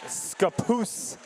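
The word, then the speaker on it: Scappoose: one from bite-sized robotics I've been informed their town is scapoose not whatever I said in intros pronunciation is overrated but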